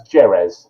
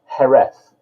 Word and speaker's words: Jerez: We're in the city of Jerez, which is spelt, that's not me pronouncing it wrong, that is how you pronounce it. It's spelt Jerez. Now you might think that's Jerez, but it's not Jerez, it's Jerez.